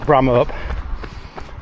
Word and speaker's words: Bramhope: We're saying like that. We're saying that like people from Bramhope, where I come from. We'd pronounce it Bramhope, and that's from Otley.